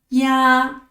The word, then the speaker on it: 呀: 下一个字咿啊呀，咿啊呀